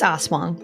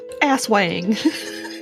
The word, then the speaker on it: aswang: at pronouncing that because it's spelled a-s-w-a-n-g so it looks like as wang it's uh it's oswang yeah you're right yep i reached out to john yeah from reddit it was it read it on wiki now yep yes to ask how to pronounce it because it's like i don't want to do this wrong ass wang yeah that's because some americans do say ass wang like of course have